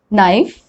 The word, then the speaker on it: knife: so that's the rule k is generally not pronounced when it comes before n at the beginning of a word will you remember that